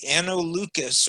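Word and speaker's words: Anno Lucis: freemasonry than the analucus the lucas hard c because it's latin uh the anno lucas or year of light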